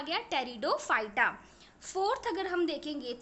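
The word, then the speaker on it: Pteridophyta: P silent होता है student, इसमें थर्ड क्या आ गया, टेरिडोफाइटा.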